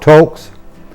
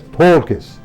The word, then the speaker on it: Toelkes: So T, umlaut O, L-K-E-S. Toelkes, I think is how it would be pronounced.